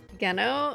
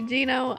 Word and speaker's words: Geno: you meet Geno, or I keep getting told that I'm saying his name wrong, but that's how I've said it since I was like a little kid and first played the game. I know it's supposed to be Gino.